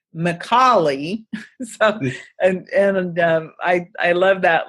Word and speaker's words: Micale: last name because of mi c al e pronounced McCauley and and I love